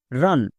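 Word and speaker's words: run: এস ইউ এন সান এখানে ইউ এর আগে আর আছে আর ও এর নিচে আছে তাহলে টিপস অনুযায়ী ইউ এর জন্য হস্তকার হওয়ার কথা মানে এর উচ্চারণ রুম হওয়ার কথা রান কেন হয়েছে কারণ এটা ব্যতিক্রম একই রকম ভাবে এস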